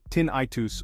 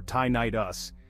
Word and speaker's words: tinnitus: can do about it tinitus pronounced tinitus or tyit us is the perception of